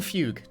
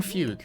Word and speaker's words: fugue: It's pronounced fuga in Japanese, but like they kept it like spelled that way in English, which is confusing.